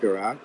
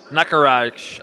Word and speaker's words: Nakaraj: right there you go there's naftara not garage nakaraj i believe it's pronounced okay well there you